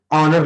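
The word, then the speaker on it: honour: ठीक यही ऑनर में होता है, एच साइलेंट होता है और साउंड ओ से आएगी, तो एन ऑनर।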